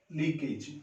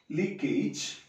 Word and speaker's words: leakage: Similarly, another word, leakage. Common pronunciation in India is leakage, but it is leakage.